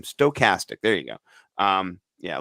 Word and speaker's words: stochastic: I put the K in front of it. My mind is. I think I read it wrong the first time. Stochastic.